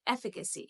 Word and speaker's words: efficacy: Here you need to understand that I is silent, so it is efficacy.